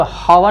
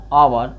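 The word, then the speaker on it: hour: इसको हवर नहीं बोला जाता है। इसको क्या बोला जाता है? आवर।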